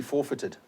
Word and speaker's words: forfeited: You've got foreign, you've got sovereign, seized, weird, counterfeit, forfeited. It's pronounced actually forfeited.